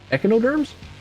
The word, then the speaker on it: echinoderm: Echinoderms? Echinoderms. Google. Define echinoderm. Echinoderm. Okay, that's how you pronounce it.